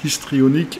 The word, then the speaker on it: histrionique: appelle la personnalité histrionique faut que je fasse attention ne pas prononcer le h parce que généralement j'étais la personnalité histrionique et les gens comprennent